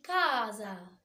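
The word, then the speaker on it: casa: وهنا الكو حرف الاونا كمان كلمه كازا كازا اللي هي منزل وهنا خدنا السبه بتاع كا نطقي وعرفنا معلومه جديده ان الاس في النص بطها ز فطبعا في ناس فيكم ممكن تكون كتبتها بالزيت تخلي بالها ان الاس لما بتيجي ترادو فوكال بالذات بين حرفين متحركين بتلاقو بننطقها الز عندي بعد كده تمبل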